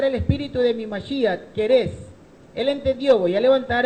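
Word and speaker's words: כורש: Porque en hebreo él dijo, levantado el espíritu de mi Mashiach Querés. Querés es como se pronuncia en hebreo el nombre arameo griego de Ciro.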